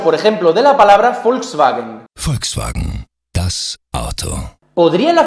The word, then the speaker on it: Volkswagen: Por ejemplo, los alemanes normalmente pronuncian la V como F, como es el caso, por ejemplo, de la palabra Volkswagen.